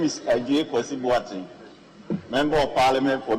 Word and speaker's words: Adjei: My name is Ajay Kwesi, Member of Parliament for New Jabino. But the Ajay is spelled wrongly. My Ajay is ADJEI.